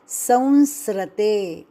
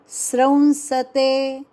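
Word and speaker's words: स्रंसते: आगे शते स है लेकिन गलती से बोला जाता है संस्रते व आसान मुह मे से निकल जाता शब्द संस्रते लेकिन यह शब्द गलत संस्रते यह गलत उच्चारण फिर सही क्या श्रंसते स के पेट मे आधार श्र स के पेट मे आधार श्र और उसके उपर अनुस्वार श्रंसते सते बोलण नाही शसते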